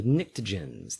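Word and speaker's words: pnictogens: nitrogen we have the NICTA jhin's that's a silent p on top of the nectow Nick - Jin's because they are sort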